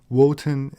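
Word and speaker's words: Wotan: lower social classes wotenism woten is the german pronunciation of odin liszt claimed that the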